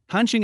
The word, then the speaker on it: Hansheng: Hansing is pronounced similarly to the English letter handsome which means handsome.